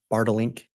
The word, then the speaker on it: Bartlink: And am I saying that correctly? It's Bartlink? You pronounced it perfectly.